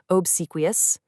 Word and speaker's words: obsequious: As the source notes, the pronunciation here is definitely on the harder side, obsequious.